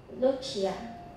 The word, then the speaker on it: Lucia: Lucia.